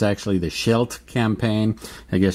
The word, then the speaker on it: Scheldt: I pronounced the name of the game wrong last time. I called it the Scheldt Campaign. It's actually the Scheldt Campaign. I guess Scheldt sounds more cool in German.